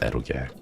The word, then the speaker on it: eroge: That's what's pronounced eroge.